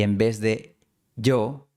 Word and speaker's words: yo: En el álbum Caminos de los Andes pronuncian yo quiero en vez de yo quiero.